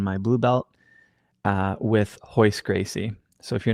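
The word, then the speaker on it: Royce Gracie: second stripe on my blue belt uh with hoist Gracie so if you're not familiar with ho it's spelled r y c like Rolls-Royce uh but it's pronounced ho Gracie now the Gracies are essentially the first family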